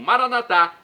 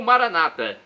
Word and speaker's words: Maranatá: E agora do aramaico dialeto de Jesus eu clamo Maranatá ou Maranata. As duas pronúncias são aceitas. Maranatá dos católicos, Maranata dos evangélicos ou protestantes.